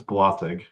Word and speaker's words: Blasig: It's Blasig. Is what? Blasig. Blossy? Blasig. It's like a hard G.